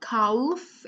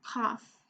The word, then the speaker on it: calf: In the word calf, the L is silent. It's not calf, it's calf.